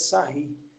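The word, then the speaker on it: Sarrus: que se chama a regra de Sarri. Não sei se vocês lembram disso, que se escreve Sarros, tá? Que, sei lá, acho que é francês, né?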